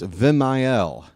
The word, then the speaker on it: Vimael: Very happy for Machine, but it's not Vimael, it's Vimael. There's a third syllable in there, and I'm going to do my best to get his name right.